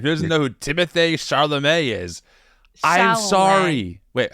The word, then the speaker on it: Chalamet: Who doesn't know who Timothy Chalamet is?